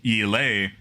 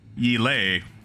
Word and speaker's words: Yela: I hear it's Yele. That's it. That's how you say Yela. It's Yele.